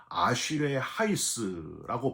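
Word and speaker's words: אשרי האיש: 여러분, 첫 구절 이 복 있는 사람은 히브리어 원어로 보면은요, 아쉬레 하이스라고 발음을 해요.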